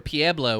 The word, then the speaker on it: Pueblo: word creek or or how you say certain towns like pueblo or pieblo which is the dumbest thing i've ever heard in my life yeah i said it